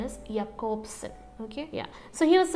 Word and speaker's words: Jakobson: See, the right pronunciation is Jakobson.